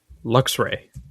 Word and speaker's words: Luxray: I thought you were going to say that he scolded you for your pronunciation of Luxray. Luxray? What'd I say? Luxray? Yeah, you're adding an extra syllable in there.